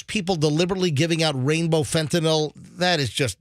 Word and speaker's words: fentanyl: By the way, again, folks, please, call it fentanyl, N-Y-L, fentanyl. Doesn't matter. Not Your drug dealer gets really mad when you mispronounce it. I don't like when people call it fentanyl. Like, it doesn't sound like Tylenol. It's fentanyl. Doesn't matter.